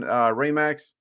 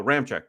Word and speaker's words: Ramczyk: Players out today, the big news guys are Alvin Kamara, Tyron Armstead, and Ryan Ramax. I can never say his name. Ramczyk, something like that. Oh, Ramczyk.